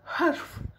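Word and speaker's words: حرف: Х там читается без всяких точечек. Видите? Вот она х. Вот это х. Х. Х. Без всяких точек. Харуф. Из горла это х выходит. Буква харф.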